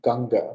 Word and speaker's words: Ganga: gangasana in in India the most sacred river is the Ganges but she's her name is actually pronounced ganga she's a goddess ganga